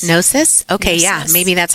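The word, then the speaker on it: Gnosis: With a G. G N O. But the G is like silent. Yes. Nosis.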